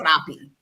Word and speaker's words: Rappi: So they have Uber, they have Rappi, they have Didi, but then they also have this Rappi. Yeah, you gotta roll your R.